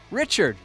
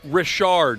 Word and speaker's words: Rashard: Here's another guy, Richard. They get $2,000 every year from their work. Rashard is how you pronounce that.